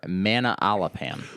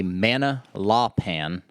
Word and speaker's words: Manalapan: I'm going to butcher the name of this, but it's shocker. I know. It's either Manala Lamapan or Manalapan.